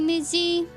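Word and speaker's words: Mici: Mitzi, Mitzi. Technically, in Czech, it's spelled M-I-C-I, Mitzi, Mitsina, right?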